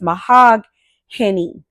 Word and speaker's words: Mahogany: I'm trying to say it correctly and not say it like my name because it's Mahogany. So it's Hany versus just being Any.